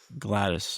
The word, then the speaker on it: Gladys: Gladdy. I've been told." Gladys.